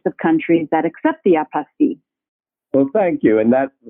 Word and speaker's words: apostille: America many pronounce it apostille but technically it's a French word and it's pronounced apostee so we can use